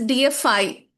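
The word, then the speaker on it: deify: D E I FI is pronounced as DFI and the other one is defy.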